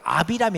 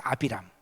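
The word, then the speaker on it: אַבְרָם: 그런데요 결단코 그렇지 않아요 아브라함은 히브리어를 아비람 원래 발음은 아비람 이데이 아브람은 높은 아버지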